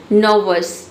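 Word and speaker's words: nervous: इसमें देखिए नर्वस में देख सकते हैं कि ना तो हम यहाँ पे ई को प्रोनाउंस ऑ का साउंड दे रहे हैं, ठीक है, आर भी साइलेंट है, और यहाँ पे देखिए ओ यू भी हम नहीं पढ़े, केवल नर्वस पढ़े, नर्वस यानी घबराहट, ठीक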